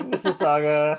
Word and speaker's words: Mississauga: school musical wow also we are um pronouncing mississauga correctly i had to look it up hey mississauga how are you doing